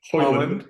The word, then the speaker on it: Højlund: Hoyland, not Holland.